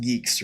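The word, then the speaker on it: Guix: I use I use Geeks or gooix or whatever I think we determined it's pronounced Geeks right um yeah same here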